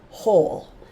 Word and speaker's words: whole: You can also have a WH, and it follows that same silent letter rule. The W is not talking. This is still whole.